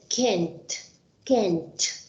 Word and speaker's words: can't: can't or can't because remember to pronounce the letter T at the end can't okay but this is